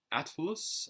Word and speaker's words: Atlus: It's spelled ATLUS. So I think it's like Atlas, but with the use of Atlas.